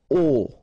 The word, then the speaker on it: au: So à plus le will become o, like that. You write it au, you pronounce it o, okay?